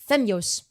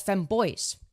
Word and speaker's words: Femyoz: all right dude I not only does Bob mispronounce my name femos as feo he pronounces Yemen as